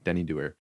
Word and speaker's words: Denny Doer: So Denny Doer. Awesome. Oh, that's how it's pronounced. Doer.